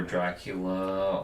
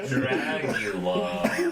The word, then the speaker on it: Dragula: If nobody has I want like to give credit all- to Rob Zombie, honestly, especially for Dracula or Dragula. okay, Dragula. If you're gonna say it right.